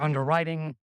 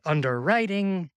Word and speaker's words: underwriting: that's fast, while their underwriting still takes up to a week. I love that I said underwriting instead of underwriting. The emphasis on the wrong syllable.